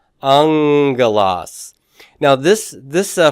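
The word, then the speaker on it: ἄγγελος: this as a AAS aelas but how do you pronounce that angas angas now this this uh first gamma then sounds nasally doesn't it it sounds like an N it's not purely an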